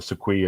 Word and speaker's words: sequoia: lot where of we got- predation on the Sequoia Yep. with herons. Now as tell me well. about the sequoia, because I finally pronounced it right.